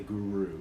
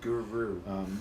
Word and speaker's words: guru: Kaimuki generally within our you're not pronouncing it as an herb you're pronouncing it as it go so you're sticking the the tongue on the back of the teeth and the roof the mouth so like in the